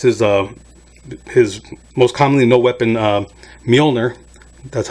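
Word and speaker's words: Mjölnir: Thor Ragnarok, he lost his most commonly no weapon, Mjolnir. That's how you pronounce it, in case you didn't know.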